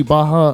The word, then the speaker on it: Barra: see like the gracie baja uh you know schools or whatever in in brazil they don't pronounce their r's it's an h sound and i don't know